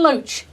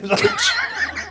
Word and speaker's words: Loach: Ken Loach. Ken Loach. He's a great character, is Ken Loach, isn't he? Which rhymes with roach.